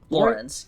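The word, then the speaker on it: Laurens: Lorenz, yeah. I'm trying to remember how to pronounce it.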